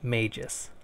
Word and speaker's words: Magus: firstly this game is pronounced maejus I thought it was Magus because I didn't know anything about this game